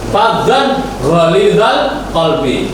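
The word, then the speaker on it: فظا غليظ القلب: Walau kunta faddan ghalidhal qalbi. Faddan ketika tanwin ketemu dengan ghain, cara bacanya jelas. Karena hukum bacaannya idhar.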